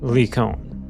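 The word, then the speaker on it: Lycaon: I'm sure there's multiple ways to say the name, but that's technically the Greek pronunciation. Leon.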